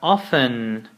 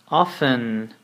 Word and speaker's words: often: times then we have often often often don't forget that we do not pronounce this T over here it's we write it but we do not say it often means perhaps 75